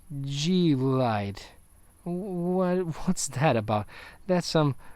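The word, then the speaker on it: G-LIDE: pronounce that i i i only say glide but it's really g light what's that about that's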